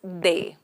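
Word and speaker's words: des: indefinite that is they the pronunciation is they so here I'll try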